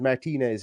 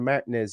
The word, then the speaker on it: Martinez: And I'm making an effort to pronounce it the correct way, which is Martinez, as opposed to Martinez, as I usually call it because of my thick Irish brogue.